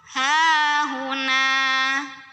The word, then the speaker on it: هاهنا: Nah juga sama ya, mad tobi'i karena ada alif yang didahului fathah, maka dibacanya panjang 2 harokat. Berhenti ataupun tidak berhenti di sini 2 aja. Hahuna.